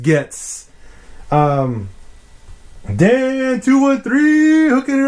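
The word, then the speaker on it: Goetze: i only use gets i know it's goetz but it's called pronounced gets um dan 213 hooking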